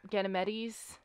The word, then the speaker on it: Ganymede: Ganymedes. Ganymedes. I think it's pronounced Ganymede. Ganymede? Okay. Yeah, I don't have the S. at the end of it.